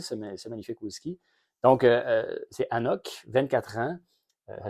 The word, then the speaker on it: AnCnoc: magnifique ski donc c'est Anok 24 ans ça s'écrit bizarre ça s'écrit annok mais ça le N et le C ne se prononce pas donc c'est Anok la disérie de noandou